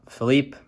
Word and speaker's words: Philippe: uh some so uh Philippe I don't know if I said Felipe before but it's pronounced tropical storm Philippe from what I understand